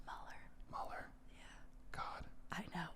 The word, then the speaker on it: Mueller: It's pronounced Mueller.